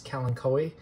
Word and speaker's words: Kalanchoe: These are succulents, Kalanchoe, fedtschenkoi, I believe that's how you say it.